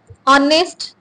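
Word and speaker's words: honest: जाए बयो ठीक है ऑनेस्ट ठीक है उन्हें में एच साइलेंट है सिर्फ ओ जो साउंड करो ठीक है माइक पास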